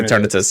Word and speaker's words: Eternatus: Eternatus.